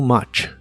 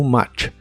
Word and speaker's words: much: much que significan demasiado la u de much se pronuncia como a too much too much veremos las palabras the